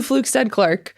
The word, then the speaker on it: Flugstad-Clarke: I just want to make sure that I still have your last name as the best syllables of all time. Yes. It is it's it's Flugstad Clark.